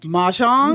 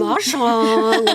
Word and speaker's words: mahjong: Mahjong? Mahjong.